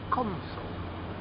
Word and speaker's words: console: ps3 that's a console console stress on the first letter but if your friend